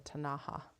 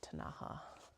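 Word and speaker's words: Ktunaxa: that live in that area are actually the tanaha which actually gets anglicized to k t u n a x a tanaha which is I really like it actually the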